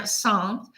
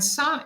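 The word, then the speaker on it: Sens: And LAROCHE is near Saintes, and Saintes is the beginning of, it's spelled S-E-N-S, is the beginning of Burgundy, which is the province in which Dijon lives.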